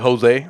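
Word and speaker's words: José: Yeah, but see, that's confusing to me as well because, like some people like Jose, right? Josue. Then the J is pronounced as an H.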